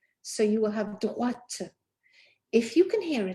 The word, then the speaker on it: droite: both of which end in E, and the E allows that consonant to be pronounced. So you will have droite.